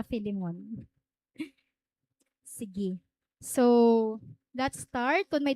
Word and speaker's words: Philemon: so ikaw mo kakhanan pag pagpronounce f lemon kay most mga sermons nga ako nababatian f lemon talaga niya pag-pronounce so f lemon kita na direta philemon sige so let's start